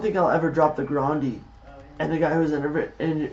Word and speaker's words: Grande: did you know Ariana Grande herself does not pronounce her name that way how does she Branson grandi grandi grandi are you now